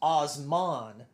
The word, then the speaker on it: Osman: emperor whose name was and I might be pronounced this one whose name was Osman so o s m a n kind of